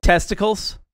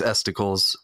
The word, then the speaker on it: Estecles: Am I saying it right? You are saying it right. Testicles. No, you're not. It's Estecles or Estecles. I used Estecles when I